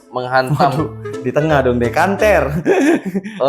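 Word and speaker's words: Canter: mengantu sebuah bertipe Mitsubishi Center menghantam di tengah dong kanter bacanya kanter bukan center Piso dong kater pertukaran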